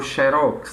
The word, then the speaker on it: xérox: essa esse conflito né se é xerox ou xérox né mas no caso de você chamar de xerox é porque na letra e no caso especificamente da sílaba né da penúltima sílaba ela recebe o acento agudo se ela recebeu o acento agudo é justamente por pelo fato de terminarem X o bíceps e tríceps quadríceps